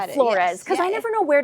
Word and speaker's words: Flores: So today, Flores. Am I pronouncing your last name correctly? Yeah, you got it. You got it. Flores because I never know where to put the emphasis.